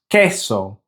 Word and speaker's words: queso: So these should be pronounced queso and café with that short E sound for the E.